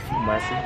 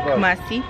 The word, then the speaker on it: Kumasi: Am I pronouncing it correctly? Kumasi. Kumasi. Yeah. Hello. Kumasi.